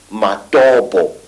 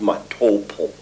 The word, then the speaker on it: Matobo: And one of these parts of Africa, say, is a remarkable place called the Mountains of the Round Rocks, Matobo, wrongly pronounced Matopo, in Zimbabwe.